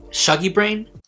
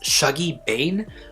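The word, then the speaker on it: Shuggie Bain: as shogi but it's shaggy bane i always say brain instead of bane it sort of reminds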